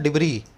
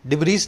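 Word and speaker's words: debris: फिर एक वर्ड है डिब्री, इसमें एस साइलेंट है। मैं इसको बोल रहा हूँ डिब्री, डिब्रीज नहीं बोल रहा, डिब्री।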